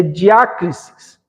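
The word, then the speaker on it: διάκρισις: Palavra sabedoria se escreve Sofia. Nós temos conhecimento no grego se lê gnosis. Nós temos discernimento é diácrisis.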